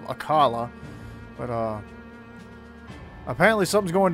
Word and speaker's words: Akkala: out but anyway we're going to akala I think is how they say it instead of aala but uh apparently something's